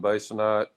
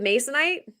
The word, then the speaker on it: basanite: You're backing with masonite? Basanite. Basanite. Okay. I guess that's how you say it.